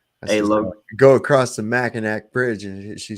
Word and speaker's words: Mackinac: about I said well if Mackinac is pronounced Mackinaw then why isn't Pontiac pronounced pontia yeah knick-knack knock knock